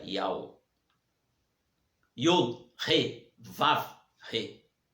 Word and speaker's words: Yahweh: Yahweh, se pronuncia Yahweh.